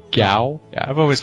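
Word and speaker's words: Gau: i liked i really we always called him goo but i think you say his name gao yeah i've always called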